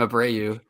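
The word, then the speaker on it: Abreu: say his name ABW you say his name abrau and she was like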